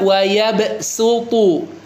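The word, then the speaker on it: وَيَبْصُطُ: Boleh dibaca pakai shad, boleh dibaca pakai sin, boleh, silakan ya. Cuma disarankan baca pakai yang di atasnya. Ini kan sinnya di atasnya sad kan ya. Jadi silakan dibaca wayabsutu wayabsu.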